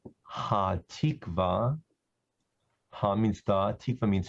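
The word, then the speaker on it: Hatikvah: It's Ha-Tikva. Ha means the, Tikva means hope. Ha-Tikva. And in English, people usually spell it H-A-T-I-K-V-A-H, Ha-Tikva.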